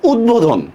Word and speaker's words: উদ্বোধন: বফলার উচ্চারণ হইতেছে কেন, এটা সন্ধিবদ্ধ শব্দ, উৎ যোগ বোধন, ঠিক আছে। সন্ধি বিচ্ছেদটা কিভাবে হবে, এরকম উৎ যোগ বোধন, উৎ যোগ বোধন, এটা কি সন্ধিবদ্ধ শব্দ, ঠিক আছে। এই জন্য এখানে বড় উচ্চারণ হইতেছে।